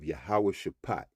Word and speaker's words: Jehoshaphat: to the valley of yahawah shapat now you'll read Jehosaphat all right but I pronounced it in the Paleo Hebrew all right so it